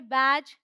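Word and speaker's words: badge: Rule क्या है, डी is silent before जी। मतलब जी से पहले डी आएगा तो साइलेंट होगा। या फिर आप ऐसे भी समझ सकते हैं कि डी जी ई है तो उसका साउंड है ज। ऑल राइट, डी नहीं बोलेंगे। तो ये है बैज, हेज, वेज, एज।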